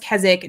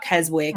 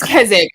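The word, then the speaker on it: Keswick: live in places like say Kzik because it's pronounced Kzzik, not Kezwick. And I'm not certain why. We need to have a whole conversation about that. So, I can't get my quesadillas with gelapos. It's kzzic.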